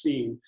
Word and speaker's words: Sin: of irony there but in Hebrew it' be pronounced seen so seen is the moon God uh in this area